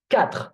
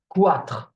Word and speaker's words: quatre: However, don't do the mistake of pronouncing it Q. Okay, quatre, for example, quatre. No, the U is always silent when it is after the Q. Okay, because for historical reasons, again, we just write the U after the Q and we kept it that way, but the U is never pronounced.